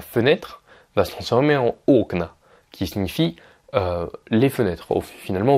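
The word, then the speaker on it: окна: va se transformer en au cna qui signifie les fenêtres finalement au pluriel alors vont marquer que l'accent tonique a aussi bouger il est passé de la deuxième syllabe à la première est un exemple maintenant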